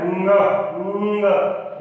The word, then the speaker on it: ङ: इसका सही उच्चारण है ङ। नाक से बोला जाता है।